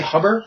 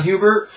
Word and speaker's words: Huber: like you said john hubert right is how you pronounce that i always want to say hubber just because but yeah john huber um it's it's strange